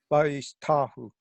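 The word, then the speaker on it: וַיִּשְׁתַּחוּ: Oh, well, I guess Vayishtachu. I had the accent on the wrong syllable. Vayishtahu.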